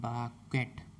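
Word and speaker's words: bouquet: बुकेट पढ़ने के लिए उच्चारण हमारा सही होता है बाक्वेट, QUET, बाक्वेट होता है। और पढ़ते हैं हम बकेट, तो हमारा सी ऑप्शन में सही लिखा गया।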